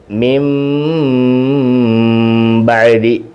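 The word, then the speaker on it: مِنْ بَعْدِ: ഇത് യഥാർത്ഥത്തിൽ മിൻ ബ എന്നാണ്, പക്ഷേ നൂനിൻ്റെ സുക്കൂനെ അവിടെ വ്യക്തമാക്കത്തില്ല.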